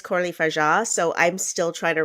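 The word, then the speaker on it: Coralie Fargeat: look at even like what's coraly f is that the pronunciation did I just I think I for Cory F and my head forever but apparently it's corly FAA so I'm still trying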